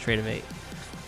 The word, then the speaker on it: Tradovate: v a t e trade tradovate but it's pronounced trade of8 so that's that um and yeah no interesting